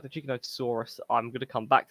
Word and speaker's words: Giganotosaurus: It's not Gigantosaurus. It's Giganotosaurus is how I pronounce it.